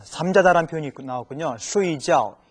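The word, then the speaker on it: 睡觉: 쉬이지아오. 이 각자가요, 지아오인데 잠잘 때는 쉬이지아오라고 읽어주는데 또 다른 표현, 쥐에더, 느끼다, 생각할 때는 발음이 지아오가 아니고 쥐에라고 읽어집니다.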